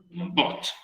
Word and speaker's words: bought: Recuerden, chiquillos, que en inglés esta GHT, la pronunciación es sin la GH. Es como que la G y la H no suenan cuando tenemos ese final en muchas palabras.